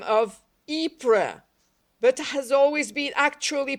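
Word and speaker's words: Ypres: been actually pronounced by the name of wipers nothing could mark a thing as more continuously national than that english men sundered by vast centuries should actually make the same mistake and should mispronounce the same word in the same way there is in this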